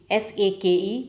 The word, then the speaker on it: sake: Sake, S-A-K-E, pronunciation is sake, a delicious drink in Japan.